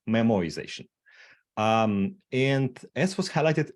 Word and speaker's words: memoization: like I mispronounced things it's not memorization it's memoization um and as was